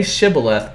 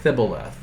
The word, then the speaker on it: Shibboleth: Say Shibboleth and they say Thibboleth.